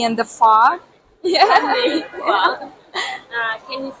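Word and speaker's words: phở: The banh mi and the pho?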